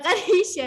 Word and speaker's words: Qadisha: Kadisa dibacanya.